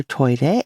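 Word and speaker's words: トイレ: god you might remember toire as the japanese pronunciation of toilet and if you study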